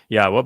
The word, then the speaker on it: Yahweh: yahwa heard about this Yahweh by the way is the proper pronunciation of yod wah Our elah God as